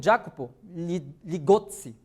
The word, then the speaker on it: Jacopo Ligozzi: Beleza, aí eu pego aqui o Jacopo Ligozzi, tá? É assim que pronuncia o nome dele, e a gente vai ver esse processo.